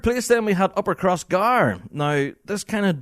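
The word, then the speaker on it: Crossgare: I absolutely sympathize so when you spell upper cross gear it's c r o SS g a r e it's gar cross gar but uh there you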